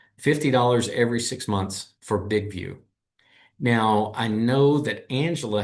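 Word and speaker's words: BigVu: Um the you the app that I happen to use is one called Big View and that's spelled B I G Vu.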